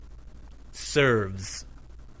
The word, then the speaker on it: Serves: Serve ends in v. V is a voiced sound. Serves.